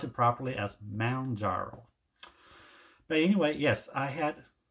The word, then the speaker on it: Mounjaro: and I have completed my week 20 on Mount jaro yes if you watch my last week's video